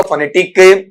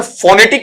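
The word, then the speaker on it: phonetic: अब इसका उच्चारण फोनेटिक नहीं पढ़ेंगे बेटा। जब भी पढ़ते हो तो फोनेटिक की बजाय क्या पढ़ा जाना चाहिए उसे आपका वहां पर फनेटिक ठीक है फनेटिक वहां पर बोला जाना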